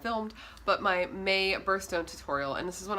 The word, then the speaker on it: Bratterstein: My name is and my channel name is pronounced Birthstone.